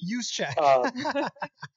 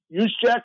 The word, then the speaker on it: Juszczyk: be able to say his name right, Kyle Juszczyk or whatever his name is. Juszczyk. I can barely pronounce my own last name, which has a lot of consonants in it also. Juszczyk?